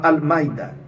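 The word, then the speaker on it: المائدة: Tem uma hamza aí interrompe um pouco a pronúncia da palavra Al-Maida, tá?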